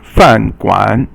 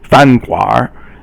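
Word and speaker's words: 饭馆: The next character is fan guan. Fan is fourth tone, and guan is third tone, and basically it means a restaurant. So some people in the north will also say fan guar, and the next character is fang bian.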